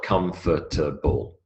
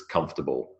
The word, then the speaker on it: comfortable: we'll see the answers notice comfortable is three syllables it is not comfortable it's comfortable three syllables memory to memory there's